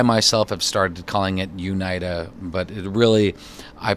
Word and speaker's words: Unida: Now, I got the pronunciation right finally, Unida.